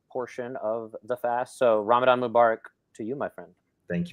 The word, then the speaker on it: Ramadan Mubarak: And the reason why is Ramadan Mubarak means the word Mubarak means blessings.